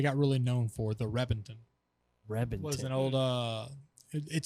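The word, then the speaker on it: Reventón: really known for the reppington was an old uh it spelled like reventan but the v is pronounced like a b apparently in italy's which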